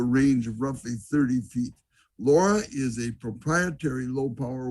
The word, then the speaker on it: LoRa: transmission signal called and here's the pronunciation laura it's for long range and it uses the